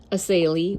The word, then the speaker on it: Essayli: Attorney in Los Angeles at USATTY Assayli, which is spelled Essayli, launched, quote, Operation Guardian Angel, end quote, last week, and it's already forcing sanctuary jails to make transfers to ICE.